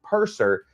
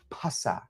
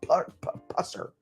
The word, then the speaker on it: Pusser: They eventually started pronouncing it incorrectly, not purser, but pussa. Pussa or pusser. Pusser. Gotta hit that P real hard.